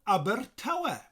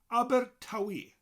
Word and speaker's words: Abertawe: abertawe duinbu and abertawe now a lot of people in swansea say they smoke locally as aber tawi aber tawi and much easier to teach this one as well so we'll stick with that and aber tawi so